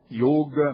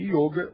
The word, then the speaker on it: Yôga: Um dos mitos é o de que yoga deva se escrever com i ou pronunciar com o aberto ou no feminino, no gênero feminino.